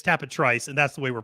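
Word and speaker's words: Tapit Trice: a conversation about like that it should be tapetry say at some point yeah yeah oh no it's Forte and it's tap a Trice and that's the way we're pronouncing it and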